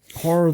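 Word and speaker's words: HO99O9: And Horror, though, is spelled HO9909.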